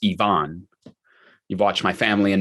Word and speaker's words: Ivan: all over the world even if I were Russian you wouldn't call me Ivan over most of planet Earth ivaan is pronounced Ivon you've watched my family